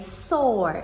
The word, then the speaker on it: sorbet: However, we completely ignore that and just say sorbet instead.